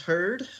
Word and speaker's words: Heard: my name is heard heard like a herd of cattle uh I usually have